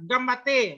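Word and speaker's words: ganbatte: Ah, Gambate, ya, Gambate bahasa Jepang. Dibacanya Gambate. Nah, N-nya agak hilang sedikit.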